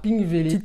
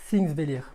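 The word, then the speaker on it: Þingvellir: après j'ai enchaîné par pink vélite correction alors en fait ça se prononce things délire hier donc c'est tout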